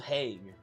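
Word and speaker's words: Hague: It's pronounced heg. That's what international criminal court is.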